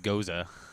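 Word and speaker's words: gose: the way i said goza he's like he's like don't say it goose it makes you sound stupid i'm like shut up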